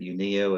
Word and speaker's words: Uneo: UNE Health um and people pronounce it many different ways but UNIO is kind of how we go.